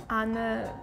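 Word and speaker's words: Anne: In German we say anor frank. So you know we pronounce the e ana and then frank.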